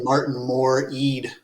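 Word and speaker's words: Martin Moore-Ede: Martin Moore Eade, if that's how you pronounce his name.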